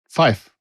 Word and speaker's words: Fyffe: Fife, and that's spelled Fyffe.